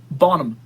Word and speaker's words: Bonham: Stop pronouncing the H in her name. Bonham.